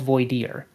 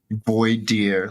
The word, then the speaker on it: voir dire: And by the way, this entire process is called voir dire. Voir dire, like VOIDER or IER. I've never ever heard that word before, not even one time, and that's surprising.